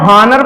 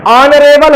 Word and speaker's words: honour: इसकी शुरुआत में एच है लेकिन एच साइलेंट रहता है, ओ से आ की ध्वनि आती है, मैंने आपको बताया था। ये क्या है, ONOR या ONOUR, क्या है ये, ऑनर है ना।